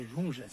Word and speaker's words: Junges: Se escreve com I mesmo ou Y? Junges. Não, J. É J? É Junges.